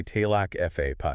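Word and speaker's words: Teaghlach Phabbay: Tilak Fabe, you pronounce it. Roughly Talak Fa Pi.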